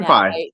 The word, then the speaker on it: senpai: So shout out uh African SE and I hope I'm saying senpai. It's pronounced senpai babe.